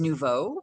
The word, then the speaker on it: nouveau: You're close enough, but I believe it's pronounced Rose Nouveau because it's French. And Oh, so Nouveau is like new, very well, close to in Spanish, right? Nuevo, yeah. right? But Mhm. Nouveau is like the new rose.